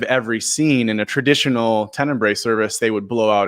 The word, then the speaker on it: Tenebrae: Yeah, so it's Tenebrae. That's how at least I pronounce it. Tenebrae is sort of an ancient service that celebrates it.